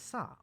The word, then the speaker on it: さ: さ This is Sa, or Sa. It's a consonant followed by a vowel. It makes up a single syllable.